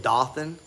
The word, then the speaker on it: Dothan: in dothan alabama it's it looks like it's spelled dothan but it's dothan dothan alabama we are